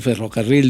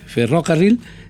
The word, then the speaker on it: ferrocarril: de repente nuestro estudiante en vez de decir ferrocarril dice eh ferrocarril entonces sabes que no hay que poner el golpe de voz aquí y entonces así podemos